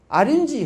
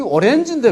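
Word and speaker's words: orange: 아린지 하지 않습니까? 아린지. 우리 오렌지인데 왜 아린지라 그러냐? 앓는 쥐란 말이냐? 이러면 곤란한 거예요. 이상한 연상을 떠올려 그러죠. 사실은 그분이 말이 맞습니다. 발음을 그래 가르쳐야 돼요. 우리가 오렌지라고 봐가지고, 미국 가가지고, 가게 가서, 백화점에 가서, 오렌지 어디 몰라고, 오렌지 어디냐고, 아무도 못 알아듣고, 그럼 못 사먹고 나옵니다. 아린지, 이렇게 해야, 아린지 저기 있다고 이렇게 되거든요.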